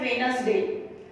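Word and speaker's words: Wednesday: एंड देखो second क्या दिया है, वेडनेसडे is pronounce as वेडनेसडे, तो यहाँ पे डी जो है साइलेंट है इस वेडनेसडे में का, वेडनेसडे नहीं बोलते हैं हम, वेडनेसडे, तो यहाँ पे डी जो है वो साइलेंट आता है, तो इसीलिए आपको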